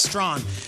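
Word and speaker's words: Strachan: round pick it is colts wide receiver michael strong now his name is spelt strait chan like the hall of famer strahan with a c but it's pronounced strong and this was the past that i think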